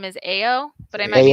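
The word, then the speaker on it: Ayo: I think her character's name is Ao, but I might be mispronouncing it. Yeah, no, it is. Yeah. Okay. Thank you. Like Ao.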